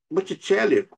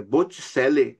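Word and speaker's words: Botticelli: deslocado de signo para Botitelli e Botravo. Pera aí é Boticele e Botravo, pronunciado.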